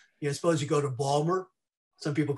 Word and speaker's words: Baltimore: suppose you go to balmer some people call it baltimore but my college roommate from salisbury maryland said it's actually properly pronounced balmer or maybe annapolis go